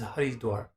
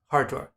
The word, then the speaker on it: Haridwar: You know what the gateway to Heaven's River is Haridwar. Hardwar, the modern pronunciation, Hardwar.